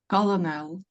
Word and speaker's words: colonel: And the word like colonel. Colonel, correct? Yes. Is colonel? Colonel. Everybody, colonel. Colonel? So is there a silent letter in that word? L. Yes, the L is silent.